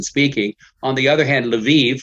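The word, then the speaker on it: Lviv: on the other hand leve which is in the far west i prefer to use that that pronunciation the ukrainian not level the russian uh so you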